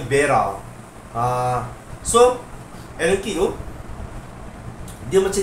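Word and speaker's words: Wera: So dia ada Allen key vera. Ha kalau ejaan dia W E R A Vera. Dia jenama Jerman tapi kalau tak silap aku sebutan dia Bera.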